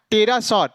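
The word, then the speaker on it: pterosaur: हो गया ऐसे यहां टेरा सर टेरा सर की स्पेलिंग क्या होगा पी टी आर ओ एस ओ यू आर इसमें क्या पी साइलेंट हो गया तो यदि एनएसटी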